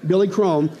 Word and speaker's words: Billy Crone: download our app search for my name it rhymes with billy chrome you know why because that's my name billy chrome and you can download the app for free